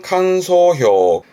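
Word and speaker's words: 感想: 발음은 칸소. 칸소라는 건 느낌. 감상의 느낌인데요. 그 감상평의 칸소.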